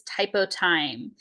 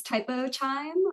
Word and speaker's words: Typotyme: down the line but with me today is typo time would you like to go ahead and introduce